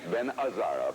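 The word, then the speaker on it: Gazzara: it Ben gazar if you were Italian you would have known that you don't pronounce the G that's right Ben azaro back to play more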